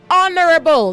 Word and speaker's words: honorable: Say honorable, not honorable. The H is silent and honor.